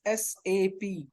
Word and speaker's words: SAP: It's SAP. First rule, why SAP? Because it's not SAP, whatever we are calling, it's not a word, it's a abbreviation. Words only we will combine and we will pronounce it.